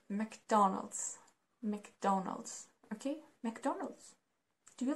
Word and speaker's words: McDonald's: already said it so it's not McDonald's it's not I don't know McDonald without this it's pronounced like McDonald's McDonald's ok McDonald's do